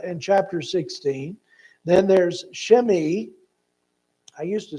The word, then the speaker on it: Shimei: So I just listened to the other guy who pronounces these names, and he pronounced it Shimei. Okay, that's the Hebrew pronouncement.